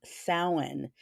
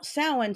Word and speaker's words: Samhain: So let's get started with the pagan festival of Samhain. Now that's spelled Samhin. That's Celtic.